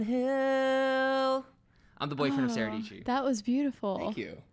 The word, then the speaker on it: Dietschy: It's your girl, Sarah Dietschy, rhymes with peachy.